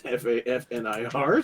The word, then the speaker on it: Fafnir: They're gonna butcher the pronoun like Faf as in Faffnear. It's not that far off. It's Fafnir. So Close enough.